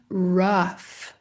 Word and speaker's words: rough: A palavra rough. Rough, que tem o quê? O mesmo som de tough. Tough e rough se escrevem de uma maneira muito semelhante. Esse GH aqui fazendo o som de de F bem claro, bem transparente para você aqui no alfabeto de sons.